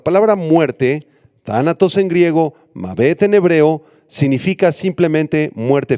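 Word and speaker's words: מָוֶת: La palabra griega y hebrea para muerte son las siguientes: Thanatos en griego, y Mavet con acento en la E y TH al final, Mavet en hebreo.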